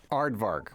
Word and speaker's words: aardvark: Aardvark. One of them is silent.